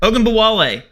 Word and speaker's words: Ogunbowale: Ogunbowale, wagon apparently. Like, dude. Wait, did you just pronounce her name properly?